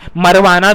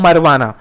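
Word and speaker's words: marijuana: मैंने एक बच्चे को देखा था बोलता है मरवाना, भाई इतने गंदे वर्ड मत इस्तेमाल करो, वो मैरुवाना है, मरवाना नहीं है। और जे इसका साइलेंट है, वो मैरुजुआना नहीं है, तो जे इसका साइलेंट है, जे इसका साइलेंट है इसलिए ये मैरुवाना है।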